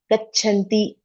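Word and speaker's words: गच्छन्ति: Of course, individually pronounced, we put more effort, but it should come flow naturally when we have word like this, gachanti. So you can feel the difference. There is extra air in that.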